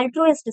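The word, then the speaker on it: altruist: इसे हम प्रोनाउंस करते हैं एल्ट्रुइस्ट से।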